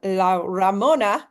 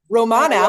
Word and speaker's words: La Romana: Erin's going to be training us on how to earn the incentive trip to La Ramona. Did I say it right, Mhm. guys? Romana.